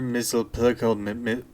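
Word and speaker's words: Mxyzptlk: Batcave we see Mr mle however you pronounce his name no repeat after me bright boy it's mix yes SP lck he is standing next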